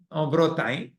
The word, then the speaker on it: Bretagne: How do you say in French? Bretagne.